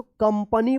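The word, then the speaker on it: company: कंपनी पढ़ेंगे।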